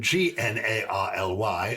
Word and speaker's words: gnarly: As in G-N-A-R-L-Y, yes. Though you are pronouncing it gnarly N-A-R-L-Y.